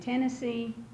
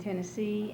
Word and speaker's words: Tennessee: and we say it because English is a Germanic language. It came from the Anglo-Saxon times, and in German you emphasize the first syllable of the word. So we say Tennessee and Detroit because that's the accepted way.